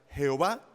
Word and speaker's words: Jehová: Son 4 letras, son 4 consonantes, lo que se denomina como el tetragramatón, 4 letras, que bien se pueden pronunciar Jehová o bien se puede pronunciar Yahvé, no tienen ningún problema, así que no se metan en líos por eso.